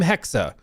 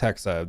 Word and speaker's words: Hexa: Code name Hexa, which I've learned it's it's Hexa.